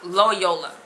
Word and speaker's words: Loyola: pronouncing their name um Ignatius D Loyola kind of like Crayola but it's Loyola who um he he